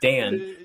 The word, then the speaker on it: Dan: name is Dan like it's just Dan it's not Don it's not Ben it's Dan and whatever the cabbage